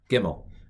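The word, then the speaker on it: ג: alphabet is not c hebrew doesn't have a c it's ga gimel uh so it's it's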